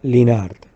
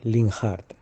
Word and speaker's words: Linhart: en alemán se pronunciaría linart porque en alemán la H no se pronuncia esa sería la pronunciación